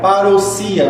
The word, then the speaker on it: parousia: colocar a palavra presença em grego é parousia parousia na verdade como eles pronunciam então a palavra parousia